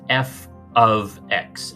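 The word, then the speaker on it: f(x): of f of x this by the way is pronounced f of x as in a function of x so notice that here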